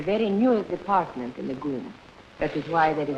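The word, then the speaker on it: GUM: state operated department store the Goon spelled g u m pronounced goom my visit to the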